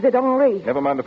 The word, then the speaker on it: Henry: He pronounces it Henri.